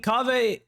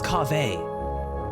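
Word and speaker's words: Kaveh: Baiju, I'm not gonna be, well, I mean, Kawe. Kawe is, wait, is it Kave? No, it's Kave.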